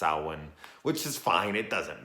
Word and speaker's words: Samhain: Loomis is like it's the festival of Samhain and it's like now this is produced this is pronounced Alwyn which is fine it doesn't matter at all